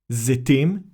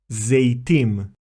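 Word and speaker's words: זיתים: We should say Elat, Zetim, and not Eilat, Zeitim. Let's continue with more examples.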